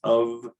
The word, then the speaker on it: of: The one word people sometimes get tripped up on is of, which is always, even though it's spelled with the voiceless letter, it's transcribed and pronounced with the voiced sound.